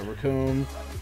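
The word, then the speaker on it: Recoome: Raccoon! And it rhymes with doom! Oh, yeah. Raccoon.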